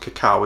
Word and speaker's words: cacao: willy's cacao or willie's it is pronounced cacao isn't it willy's cacao willy's you know